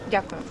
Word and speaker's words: Дякую: Дякую.